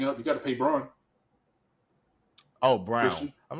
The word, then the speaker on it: Braun: say so and then and then they got Braun coming up you got to pay Braun oh Brown I'm like damn they got LeBron I'm like what they got it's it's pronounced it says brown but it's pronounced Brown I don't know why they spelled